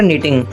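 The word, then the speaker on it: knitting: अब देखिए यान को फैब्रिक बनाने के लिए हम 2 प्रोसेस का यूज़ करते हैं, विपिंग और निटिंग। यहाँ पे के साइलेंट है इसलिए हम निटिंग बोलेंगे।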